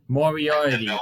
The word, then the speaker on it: Moriarty: We have Bobby Fish against Lee Morarity. I think that's how you pronounce it. Lee Morarity. Moriarty.